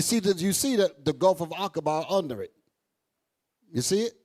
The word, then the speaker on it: Aqaba: Aqaba. That's how that's pronounced.